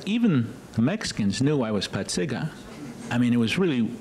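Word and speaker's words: Pacyga: The real pronunciation is Patsiga. Everybody says Paysic.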